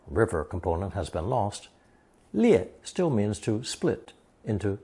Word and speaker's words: 裂: Now let's review a character from lesson 66, pronounced fourth tone, 裂.